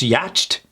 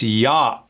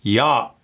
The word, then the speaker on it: yacht: At one point, was it pronounced yacht? Yacht? Maybe. But in this case, it's yacht. Yacht. I'm not even closing my mouth for the T at the end.